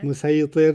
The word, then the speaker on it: مسيطر: Yeah, And he says, you said musaytir. And he says, Yeah. no, it's sad, but it's pronounced sin. yeah. Musaytir.